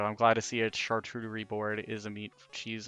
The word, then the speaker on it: charcuterie: charcuterie? Is that what they're okay? That's how you say it. I've heard it called a chartreuse board, and I'm just like, okay, I'm uncultured.